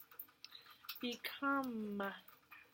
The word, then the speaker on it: become: Become. Sounds like become should end in a M, but there's a silent E at the end.